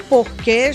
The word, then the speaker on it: porquê: Só nessas duas situações, em Portugal, pronuncia-se porquê. Nas outras, quando não há acento, se pronuncia porque.